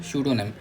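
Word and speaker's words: pseudonym: सूडो नेम। P silent रहता है।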